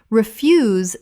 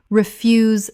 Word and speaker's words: refuse: Refuse, the noun, rubbish. Refuse, stress on first syllable. Refuse, the verb, to decline. Refuse, stress on second syllable.